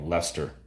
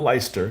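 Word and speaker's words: Leicester: in the midds that starts with an L that has 12 letters in it but it's called Lester unbelievable that one blows my mind not ler not Lester Lester like wow you just didn't pronounce half the letters there damn Norman name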